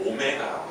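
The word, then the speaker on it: ω: 허그는 뭐라고 쓰자 메 오메가라고 쓰자 W고 쓰지만 읽을 때 뭐라고 읽어야 돼 오메가 마치 이거 보고 a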